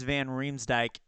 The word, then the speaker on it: Riemsdyk: ski okay burakov ski and then it's James van Riemsdyk and Devante is Devante Smith Pelle okay cool